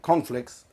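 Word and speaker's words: Conflix: that's on youtube um conflicts uh the way you pronounced it there just can you spell it out because it sounded like corn flakes can you spell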